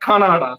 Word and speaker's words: Kannada: In mm-hmm, Karnataka, they speak Kannada, not like the Canada, but Kannada, similar mm-hmm, mm-hmm.